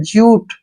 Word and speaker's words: jute: अब जैसे नेक्स्ट है JUTE, जे से बन गया जय और यू का उच्चारण जो है यू के रूप में होगा, टी से टे, ज्यूट, ठीक है ना।